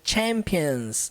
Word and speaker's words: champions: We are the champions. Primeira coisa para nós entendermos aqui é essa palavra aqui, ó. Ela não leva o som do CH igual no português, sabe?